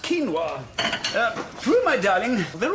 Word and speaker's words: quinoa: Um, just a medium quinoa salad, please. It's pronounced quinoa.